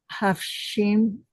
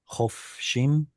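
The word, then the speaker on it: חָפְשִׁים: va'ish et shifhato hafshim It's a kamatskatan, a short O sound. Ah, Chofshim.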